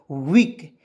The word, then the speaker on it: weak: चलिए उसके बाद WEAK, तो इसका उच्चारण देखिए W से वह लिखेंगे, और EA आया, उसको उच्चारण बड़ी ई के रूप में करेंगे। किस के से क होता है, तो क्या हो जाएगा? वीक।